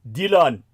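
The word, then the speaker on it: Dhillon: n in the Senate Dylan Senate not spelled the same way as Dylan like uh Dy uh but d h i l l o n like New Delhi New Delhi it's Dyan uh this [ __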